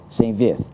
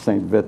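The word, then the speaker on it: Saint-Vith: Saint Vith in Belgium. There's a very pronounced Belgique French pronunciation of Saint. We always just went with Saint Vith because it's V-I-T-H.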